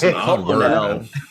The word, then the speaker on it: colonel: It's Colonel. Colonel. This is a very strange word. Where's the origin of this word that has an R but no R in it?